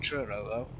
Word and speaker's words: Truro: into platform three at Truro you probably pronounce it like churro was in city of churro the locomotive but yeah